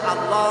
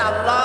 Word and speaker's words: আল্লাহ: না কেউ বলে না আল্লাহ আল্লাহ আল্লাহ পাকের উচ্চারণটা হচ্ছে আল্লাহ পাকের নাম হচ্ছে আল্লাহ মুখটা একটু গোল্ড হয়ে যাবে বলেন আল্লাহ আল্লাহ পৃথিবীতে বিভিন্ন জাতি তার স্রষ্টাকে তারা যাকে